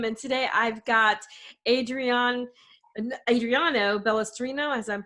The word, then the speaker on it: Balestrino: I'm your host, Kim, and today I've got Adriano Balestrino, as I'm pronouncing that right?